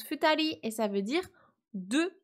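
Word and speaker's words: 二人: un compteur hyper important on a le chiffre 2 suivi du candi de la personne ça se prononce futali et ça veut dire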